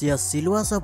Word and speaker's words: सिलवासा: पर स्थित दें कि अंग्रेजी प्रभाव के चलते सिलवास का उच्चारण अक्षर सिलवासा किया जाता है और अधिकतर लोग अब इसे सिलवासा या शुरुआत कह कर ही पुकारते हैं यहां पर गुजरती जनसंख्या के प्रभाव के कारण इसे सेलवास भी कहा जाता है कि